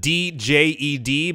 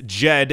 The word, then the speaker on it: Djed: It is spelled D-J-E-D, but as far as I understand or have seen, the first D is supposed to be silent, so it's JED and not DJED.